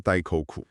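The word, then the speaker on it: 大黒: Because Mahakala, introduced by Buddhism, his Japanese pronunciation for "Great Black" is also Dai-ko-ku.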